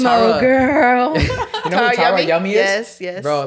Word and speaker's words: Tara Yummy: Nah, it's like Tammy Yang. Nah, Tara Yummy. Tara Yummy. Yeah. Literally the way it sounds. That's how it's spelled.